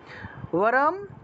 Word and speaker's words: বরম: ওয়ারম, ব আছে না, ওয়া উচ্চারণ হবে।